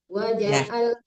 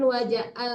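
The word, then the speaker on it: وجعل: kalimat membacanya anam anam wajaal jangan wajaal tapi waja'al harus jelas ainnya coba lagi in hua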